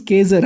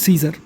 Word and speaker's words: Caesar: So if you read according to the spelling, it's Caesar actually. Cae is K, Sar is Zar, Caesar, but it's pronounced Caesar.